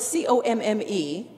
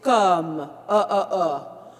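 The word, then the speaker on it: comme: When we say the word C-O-M-M-E, it's a hard one to pronounce because it's not com, it's not cam, it's come.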